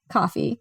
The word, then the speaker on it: Ko-fi: Coffee, Ko-Fi. I just say coffee.